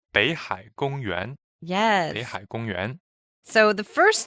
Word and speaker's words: 北海: 北 is a third tone. 海 is also third tone. And then because of the tone change rule, the first third tone turns to second. So it's actually pronounced 北海 as in second tone and third tone.